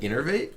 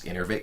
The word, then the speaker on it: Innervate: Why don't no streamers pronounce Innervate correctly? I do pronounce it correctly. It's Innervate.